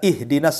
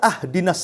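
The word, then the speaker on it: اهدنا: Contoh umpamanya, kita baca ihdinas siratal mustaqim, kan gitu. Kita baca ahdinas siratal mustaqim. Harusnya di kasroh, kita fathah pula tuh. Harusnya ihdinas siratal, kita katakan ahdinas siratal.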